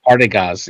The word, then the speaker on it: Partagaz: Partagaz. Yeah, he's saying it correctly.